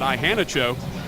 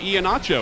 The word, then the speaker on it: Iheanacho: play-by-play voice of SFA, asked him how to pronounce his name. He said Ihanacho. He said, well, why does everybody call you Iheanacho? And he goes, I have no idea, but they do.